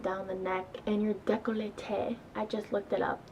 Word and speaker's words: décolleté: always bring it down the neck and your décolleté I just looked it up that's how you pronounce it I really like to lay on